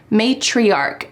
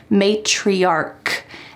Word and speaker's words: matriarch: opposite word is matriarch matriarch notice that the end of this word sounds like a k matriarch and this is when